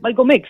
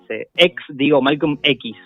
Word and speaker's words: Malcolm X: Imagínense el contexto del cual viene Malcolm X, porque muchas veces Malcolm X, yo pronuncio como el X, la X en inglés, porque es como más cortito, más simple.